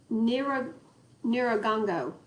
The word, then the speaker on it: Nyiragongo: Have y'all seen the pictures of the lava coming out of let me pronounce it properly. Nyiragongo.